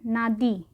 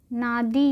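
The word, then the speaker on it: Nadi: Fiji में एक जगह है नादी। ठीक है, फिजी की एक जगह है नादी या नदी, what ever you feel like, नादी या नदी, जो आपको लगे प्रोनाउंस करने में।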